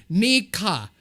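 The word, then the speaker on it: Nneka: people later we know there are actually two pronunciations NECA what is what is what I typically tell people Americans although the actual Nigerian way is quite different Mika there's a long e okay so excuse me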